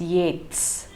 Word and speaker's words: Yeats: to mention is that his name though it is written as y-e-a-t-s is pronounced as yet's it would do good